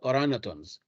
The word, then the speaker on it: orangutans: G is silent, orangutans.